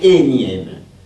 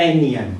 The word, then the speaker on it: énième: Un énième. Non, oui, c'est ça. Donc, parce que comme le N ne se prononce pas, on met avant le N un E.